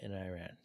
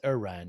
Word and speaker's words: Iran: Speaking of pronunciation, I mispronounce it's Iran, not Iran.